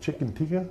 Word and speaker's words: chicken tikka: I possibly could butcher this name, but chicken tikka?